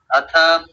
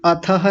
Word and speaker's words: अथ: ओम श्री परमात्मने नमः अथ पातंजल योग दर्शनम प्रथमा पातंजलं ल को पूरा कीजिए दर्शनम प्रथमा समाधि अथ योगानुशासनम अथः नहीं अथ बस अथ बोलना है अथ योग योगानुशासनम हां जी बहुत सुंदर उच्चारण बहुत बढ़िया।